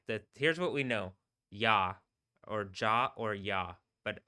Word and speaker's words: Yah: That being said, if you're gonna get it closer to correct, it is yah.